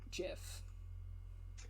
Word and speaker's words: GIF: after learning that it's technically supposed to be pronounced jiff because i refute like